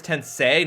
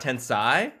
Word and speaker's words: Tensei: rebirth 100% is it you're pretty sure it's tensei not Tensai okay chimami tensi okay okay I'm saying it wrong right on the box